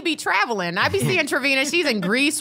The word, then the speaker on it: Travina: I be seeing Travina.